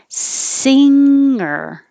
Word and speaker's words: singer: Don't let it come down quick like singer, singer. You can. It's not wrong to pronounce the G. Singer, singing, ringer, ringing. It's just not as common in the rest of American dialects as without it.